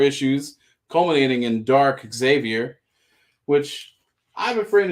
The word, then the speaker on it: Xavier: is insistent that you do not say the X. His argument is, would you say xylophone? No, you would say xylophone. Xavier is actually pronounced Xavier.